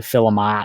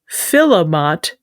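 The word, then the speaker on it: philomot: Namely, filament, f i l e m o t, and filament. P h i l o m o t. Like philosopher. No, not like philosopher.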